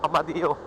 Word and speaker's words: Amadeo: amadio Barangay halang amadio ganon kasi nila I pronounce yung Amadeo amadio sig sundan natin sila